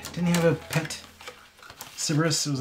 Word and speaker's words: Cerberus: Am I pronouncing that right? Is it Cerberus?